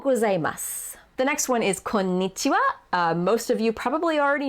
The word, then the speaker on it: konnichiwa: one n ko ni it is actually two n's so it's kom nichiba so you have to really stress that konnichiwa don't think konichiwa that's not the correct word so konnichiwa the next